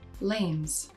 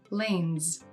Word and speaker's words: lanes: You can hear in Matthias's pronunciation that he uses s at the end of words like lanes. It's the same sound he uses at the end of the word films. However, in English pronunciation, many words that end in an S spelling are pronounced as z. In this course, you'll learn the rules that govern this pronunciation and take your English to the next level with pronunciations like lanes and films.